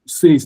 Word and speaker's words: says: But if I tell you that the one here is not even A, this one is now pronounced as A, as you have it in egg.